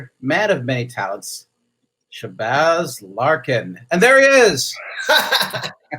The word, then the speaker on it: Shabazz: Now, Shabazz like jazz, right?